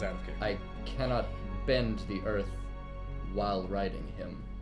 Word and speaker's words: Bin: pronounced Ben. like... Ben. Ben. B-I-N.